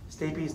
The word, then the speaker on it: stapes: the footplate of stabies stabies not one of those fun and out of your words spelled stapes pronounced babies the oval window is